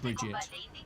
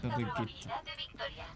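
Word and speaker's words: Brigitte: Like the daughter of Torbjorn is not Bridget, but Birgitte.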